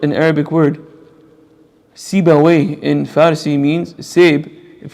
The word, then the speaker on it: Sibawayh: His name's Sibawayh. It's written in Arabic, but it's not an Arabic word. Sibawayh in Farsi means Seb.